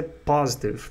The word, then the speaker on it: positive: E aí tem o positive, que em português é positivo e em inglês é positive, acento na primeira sílaba também. E aí o positive é yes, sure, of course.